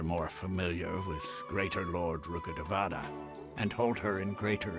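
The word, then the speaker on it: Rukkhadevata: Although they believe in gods, most of them only care for the late Greater Lord Rugadavada. You pronounce that differently. Rugadavada.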